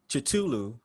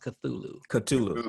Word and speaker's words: Cthulhu: what she is uh and out of nowhere chitulu uh it's basically like a a giant uh